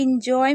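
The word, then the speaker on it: enjoy: देखिए एंजॉय में आप ध्यान रखिएगा। इसे इन पढ़ रहे हैं, एन नहीं पढ़ रहे हैं।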